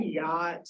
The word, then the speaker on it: yacht: The CH is silent.